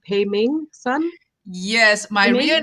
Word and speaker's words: Peiming Sun: let me okay so teach me how to say it pay me son yes my real name